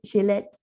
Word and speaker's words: Gillette: Today I'm so excited we're talking to Michelle Gillette, and I actually pronounced it before more French, right? Gillette.